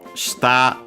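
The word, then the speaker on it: 下: Shita unaccented means bottom.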